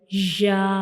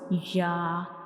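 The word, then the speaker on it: ياء: hard palate to pronounce Ya, like Ya. Ya. So pronounce Ya, we will touch the center of the tongue to the upper hard palate.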